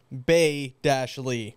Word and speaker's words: Bailey: I'm looking on Google and it says Ha-Lee, Bay-Lee.